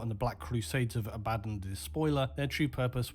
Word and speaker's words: Abaddon: the despoiler would then the correct biblical pronunciation is abaddon but i've never heard a 40k player say anything other than abaddon and also infamously use